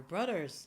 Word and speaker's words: brother: It's a B sound, then the /R/ as in red, okay? Or as in brother. So round your lips and pull the tongue in. It's not /br/ or /bl/.